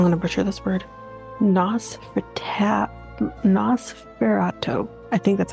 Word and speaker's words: Nosferatu: about the, I'm going to butcher this word, Nosferatu.